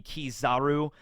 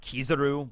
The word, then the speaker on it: Kizaru: In fact, the real way I should be pronouncing his name should be Kizaru, not Kizaru, but I like Kizaru.